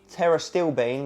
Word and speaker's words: pterostilbene: Then we've got pterostilbene, which is a bit of a funny one, silent P there, 25 milligrams.